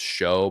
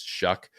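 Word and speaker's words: Shough: always really liked Tyler shuck who is one of those names that doesn't look like it should sound like that it looks like it should be pronounced show but it's shuck yeah it's weird plays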